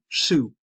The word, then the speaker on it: Su: And that, or not Su, Su. Gar and Su. It's tough for me to pronounce it because it's Basque.